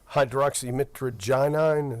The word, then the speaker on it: hydroxymitragynine: And I think that is, and is that hydroxymitragynine? Is that how that's pronounced? Yes, sir.